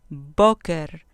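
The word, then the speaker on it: בוקר: Boker, boker, con acento en la penúltima sílaba.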